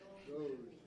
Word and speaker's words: DOGE: Now he he's talking about Minnesota doi or however you pronounce that. Doge. Doge.